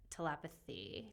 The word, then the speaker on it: telepathy: Well, because you say people are telepathic. Yes. So it's tempting to say telepathy. Telepathy, but it's telepathy. Yeah, like Telepathy.